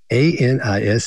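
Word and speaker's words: anise: said I need some anus oil and she goes really I said yeah she said how do you spell that I said a n i s e and she said oh Anis oil yeah let me get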